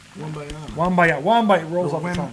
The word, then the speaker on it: Wembanyama: Wembanyama rolls off the tongue. Wembayana.